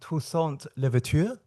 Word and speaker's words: Toussaint Louverture: I'm not even going to pronounce it because my French will be terrible. I will attempt. Toussaint Louverture.